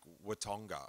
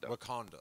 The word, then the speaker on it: Wakanda: the ship when they first fly into like Watonga. What is it on Marvel? Where the Black Panther is? How do you say that? Wakanda.